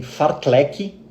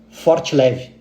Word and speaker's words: fartlek: As pessoas confundem fartlek com forte leve, por uma questão de pronúncia.